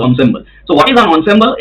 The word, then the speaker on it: ensemble: If the pronunciation is ensemble but it's the spelling is so its spelling is ensemble n s but it is pronounced ensemble.